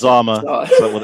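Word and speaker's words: Xama: Zama start with an X. Zama. X A M A. Zama, right?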